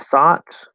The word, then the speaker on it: thought: The OUGH and AUGH spelling patterns. These are kind of 2 ways to write the same thing, more or less.